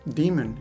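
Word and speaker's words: daemon: for hypertext transfer protocol demon by the way demon is spelled D AE m o n and it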